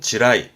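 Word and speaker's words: 地雷: 발음은 지라이, 지레의 지라이입니다.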